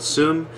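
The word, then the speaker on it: Seum: ottawa we played with another montreal-based band called sum and a ottawa-based man called ottowa that's a-u-t-o-w-a-h and soom is spelled s-e-u-m in case you want to look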